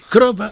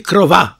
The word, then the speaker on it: krowa: W języku polskim akcent pada z reguły na drugą sylabę od końca, prawda? Paroksytoniczny tak zwany. Tak, tak. Krowa, a nie krowa, prawda?